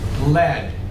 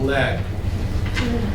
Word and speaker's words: lead: also is a thing it's a metal lead looks like it should be pronounced like that lead I showed you this weeks ago this is a metal called lead people use it for